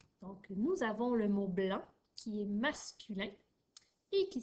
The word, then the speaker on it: blanc: Donc, dans le mot blanc, tu as l'équipe AN qui s'écrit A-N et tu as également un C muet à la fin. Donc, on ne doit pas le prononcer.